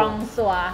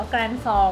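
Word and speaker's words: Grand Soir: ตัว นี้ ก็ คือ กอง ซัว ค่ะ ภาษา ฝรั่งเศษ น สาม ว่า กอง ซัว แต่ ว่า อ่าน ว่า แกรน ซอ ก็ ได้ อันเนี้ย เห็น สี น้ำ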